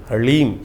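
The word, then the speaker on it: ह्लीं: ह के पैर में र है, फिर उसमें साथ ही में ल लगा हुआ है और ऊपर से बड़ी की मात्रा बिंदी, ओम ह्लीम। इसका उच्चारण इस प्रकार से है।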